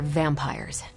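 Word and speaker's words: Vampyres: tracking are uh they're vampires I see no I do not you already said they were vampires vampires with a Y pronounced exactly the same as vampires I suppose that was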